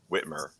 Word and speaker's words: Whitmer: donate ice bait and you just switched to whitmore and you know he hates whitmore and so